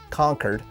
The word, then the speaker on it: Concord: in the comments over my pronunciation of Concord instead of saying conquered um I I've decided that I'm going to to stick to my guns and I'm going to stick with Concord and here's why take